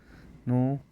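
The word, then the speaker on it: know: সোলড সোলড go point gone go point gone নো নিউ নন নো নিউ নন নো নিউ নন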